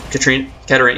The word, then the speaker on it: Katarina: Katarina, yeah, I said it right. I keep saying Katrina, it's like kind of awkward that I'm saying that.